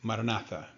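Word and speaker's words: Maranatha: We recommend the ancient Christian prayer word marinatha. Say it as four equal syllables.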